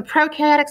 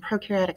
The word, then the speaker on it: prokaryotic: those electron microscopes so prokaryotic cells one of the pro rhymes with nose we're talking about things